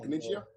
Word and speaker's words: Caniggia: Claudio Caniggia? Is that how you pronounce it? Caniggia?